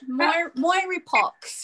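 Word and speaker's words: mirepoix: onions together who knows it's a french word moire pox yes okay so what i've also done um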